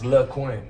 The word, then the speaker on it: LyQuin: I always pronounce it LyQuin in my head. Just, Yeah, people be just calling just Lysol, disclaimer, NyQuil, yeah. all type of shit. I'm like, it's LyQuin.